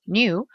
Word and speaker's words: knew: The attendant knew, alors le cas est muet, knew, who I was.